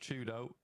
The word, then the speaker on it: 4YDO: For Twist weren't aware, 4YDO is pronounced Chudo.